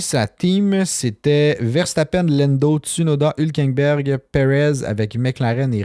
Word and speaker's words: Tsunoda: En deuxième, il y avait Yuki Tsun avec 355 points. Je sais pas, j'ai bien prononcé son nom, mais je pense que oui. Ben, c'est Yuki Tsunoda, mais juste pas Ouais.